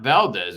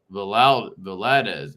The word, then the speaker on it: Valadez: But it's not Valdez, right? It's Valadez. It's spelled differently.